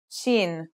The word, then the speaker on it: shin: letter we learn is Sheen this one is pronounced just like the English in the word shovel this one is very